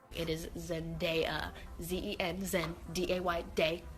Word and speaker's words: Zendaya: To be fair, reading Saoirse on paper isn't the easiest to pronounce, but it's a good thing you know now. Number 3. Zendaya. It's Zendaya, not Zendaya.